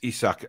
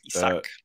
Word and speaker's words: Isak: It's Isak, actually. Isak. Yes, if we're going on proper name pronunciation, Alex, which you made a big point